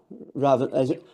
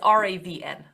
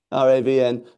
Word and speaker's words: Ravn: It's It's actually as in brown without the B. Uh, but everybody just says Raven, so I took it myself, too. But it's Ravn. Ravn.